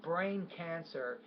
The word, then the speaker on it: brain cancer: Now, brain cancer, this is a word stress issue here. So when you have that compound noun, brain cancer, stress is on both of those nouns, not just one.